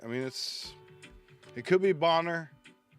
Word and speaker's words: Bonner: I actually had a friend growing up, his last name was spelled the same way, and it was Bonner. But unless you know that, you're going right away with Boner.